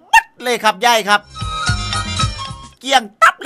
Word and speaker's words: เกลี้ยงตับ: ขอ เสนอ คำ ว่า เกี้ยง ตั๊ คำ ว่า เกี้ยง ตั๊ ครับ หมาย ถึง ว่า หมด เกลี้ยง ไม่ เหลือ ออก เสียง ว่า เี้ยง ตั๊ นะ ครับ หมาย ถึง ไม่